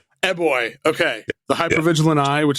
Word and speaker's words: Eboy: Eboy.